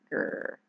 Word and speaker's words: Gur: He'd say it like a purr, Gur.